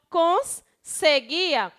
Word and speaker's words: conseguia: Então, quando eu pronuncio conseguia, é como se a palavra tivesse 2 S.